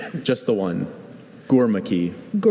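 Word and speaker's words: Gurmukhi: Are there any alternate pronunciations? Just the one. Gormaki. Gormaki.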